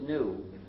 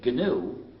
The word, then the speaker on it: GNU: If you pronounce it new, you will get people very confused.